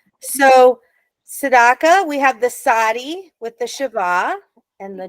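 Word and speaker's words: Tsadi: Tzaddik. Sadi, right, exactly.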